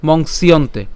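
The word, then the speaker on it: मंस्यन्ते: উচ্চারণ করলে কি হবে মংসিয়ন্তে ঠিক আছে পুরোটিকে একসাথে উচ্চারণ করলে কি হবে মংসিয়ন্তে আর আলাদা উচ্চারণ করলে মংস ইয়ন্তে হ্যাঁ তা আমরা একসাথে উচ্চারণ করবো মংসিয়ন্তে ঠিক আছে মংসিয়ন্তে এরপরে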